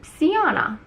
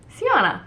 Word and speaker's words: Sjana: it's really off-putting but think of the J is like an I so see Jana banana Sultana see Jana it rhymes with those